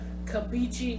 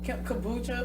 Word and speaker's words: kombucha: That damn kabichi, how you say it? Kombucha.